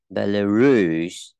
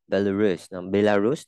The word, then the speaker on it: Belarus: Belarus, Belarus, trọng âm giờ âm Bruce. Belarus đó.